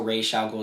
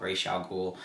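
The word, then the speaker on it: Ra's al Ghul: to fight um uh raz al ghoul which is pronounced also ray shall go just so i don't get that wrong because in this game it is called racial ghoul and instead of the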